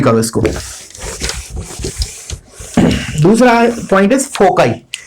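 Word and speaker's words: foci: Form क्या है हमारा, फोकाई। मतलब बहुत से इसको मतलब प्रोनाउंसिएट ऐसे भी करते हैं फोसाई, बट आई यूज फोकाई।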